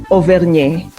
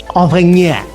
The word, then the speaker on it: Auvergne: Right, now tell us, how do you actually pronounce ASM Clermont Auvergne, whatever? So it's ASM Clermont Auvergne. Auvergne. Auvergne.